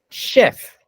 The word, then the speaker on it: chef: Chef ah yeah very good that's the correct pronunciation Chef which is it is Chef sorry actually yeah